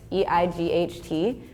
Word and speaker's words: eight: word the word for the number eight e-i-g-h-t makes no sense if you're reading it yeah yeah because it looks like yeah right but like you don't say it like that you say eight so it's the same as a t e it's written completely differently so yeah and we